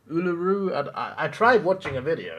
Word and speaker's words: Uluru: Apparently, it's not Uluru. How is it actually pronounced? Uluru.